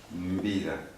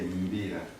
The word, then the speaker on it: Mbira: So when you see an M and followed by B and I there, you have to make all the sounds but very tight.